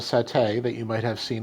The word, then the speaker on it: satay: be because see there's an Indonesian dish called Satay that you might have seen in restaurants which I have eaten before that's spelled s-a-t-a-y which is a skewered grilled meat